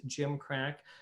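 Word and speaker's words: gimcrack: been a clue but it is pronounced Jim crack uh crack was no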